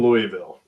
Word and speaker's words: Louisville: Wait, is it a thing that you guys that grew up in Louisville have to say it wrong, or are we all saying it wrong? I grew up in Louisville, Kentucky. It's Louisville. It's Louisville, though. It's Louisville. Anybody in Kentucky knows it's Louisville. I know. I've listened to Dennis Trusley, who is the epitome of Louisville grammar, and I know that's how it's said there.